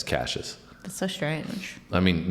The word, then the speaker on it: Cassius: weird pronouncation cuz like looking at it I would think it's like cassus yeah it's cases that's so strange I